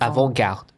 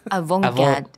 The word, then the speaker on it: avant-garde: It's not a E or an A, so you don't actually pronounce the T. So it's avant. It's not avant. It's avant and then avant-garde. Garde. Avant-garde.